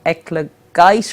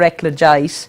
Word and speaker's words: eclogite: But I have a particular favourite which is called eclogite or eclogite. Eclogite. Because I worked in America on it, I get mixed up between the American pronunciation and the European pronunciation.